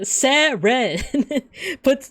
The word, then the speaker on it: Seren: Both. It's both. All right, so Seren. put stress on both syllables.